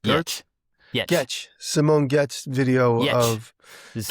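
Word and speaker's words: Giertz: The Simone Getz? Yetch. Simone Getz video of... This is with the yeah. Yetch. Getcha. The G is non-existent. Yetz. I mean, it's there, but it's Yetzy.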